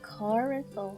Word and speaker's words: coracle: Oh, coracle.